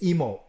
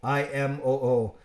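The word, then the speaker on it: Imoo: It's Imo. I-M-O-O. It's actually in Japanese, Imo, because you say every syllable, but I don't say that. It sounds like I'm stuttering.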